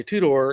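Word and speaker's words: Tudor: model a two-door and when i say two-door it's called a it's spelled t-u-d-o-r that was ford's play on words because it only has two doors they had another version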